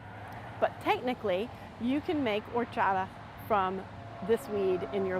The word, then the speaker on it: horchata: It's spelled horchata, but it's pronounced horchata, and it's a delicious beverage made from this nut.